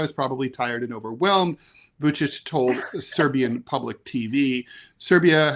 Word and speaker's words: Vučić: President Alexander Vučić, how do you pronounce that? Vučić, that's right. These Serbo-Croatian names are hard.